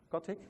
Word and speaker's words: Kotick: And more recently, Bobby, does anyone know how to pronounce his last name? Kotick, all right.